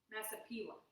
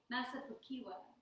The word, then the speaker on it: Massapequa: Oh, I think I like her reading them because I like her saying how she pronounces the cities. How do you say that? Massapequa. Massapequa.